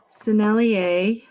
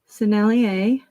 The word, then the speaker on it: Sennelier: outside here all right sennelier which is French that's why it's pronounced that way I've heard people never answered really weird and I don't like it sennelier so they know what